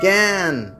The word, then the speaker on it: জ্ঞান: এবার আ কখনো কখনো বর্গজা ইয় এর সঙ্গে থাকলে এর মতো উচ্চারিত হয়, যেমন জ্ঞান, বর্গজা ইয় আকার দন্ত ন জ্ঞান।